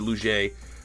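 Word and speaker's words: Liuget: loss is Corey Luce luge it I'm never like I said that's the best most Canadian way to get that name pronounced because in Canada that names 1,000% Lou J but he get a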